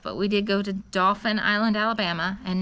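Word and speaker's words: Dauphin Island: we did go to Dolphin Island Alabama and not dolphin like the the dolphin but it's spelled d-a-u-p-h-i-n um very very nice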